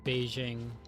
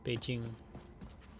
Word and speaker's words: Beijing: I need to like stop doing the like normal American pronouncing Chinese words thing where you like see a J and try to pronounce like a Russian Zh instead of the proper J. Jang like it's not Beijing, it's Beijing.